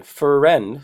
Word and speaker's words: friend: Okay, so I know the pronunciation friend, so if you pronounce it that way, friend, you would probably write it that way, but actually it's one syllable, friend, okay?